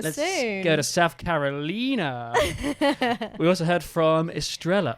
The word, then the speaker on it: Carolina: But she said it's Carolina, not Carolina. It's named after my state, South Carolina.